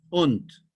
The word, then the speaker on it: und: se pronuncia Sein, ser, und, igual que en inglés, und, con D, U-N-D, y Sein und Zeit.